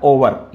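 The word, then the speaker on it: hour: करते हैं कि नक्सल और यह ओवन नहीं होता ओवर यहां पर ऐड साइलेंट होता है वह हो गया और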